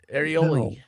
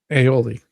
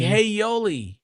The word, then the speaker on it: aioli: Areoli. How do you say that? MG aioli. Aioli. Say that like hey. Oh, there we go. Oh, like hey yoli. Hey yoli.